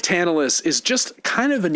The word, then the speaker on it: Tantalus: I mean, it's crazy that his name was Tantalus and like we actually say it like tantalize.